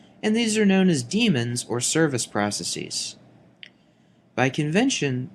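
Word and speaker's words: daemon: in the modern spelling however the pronunciation is the same damon is incorrect even though many people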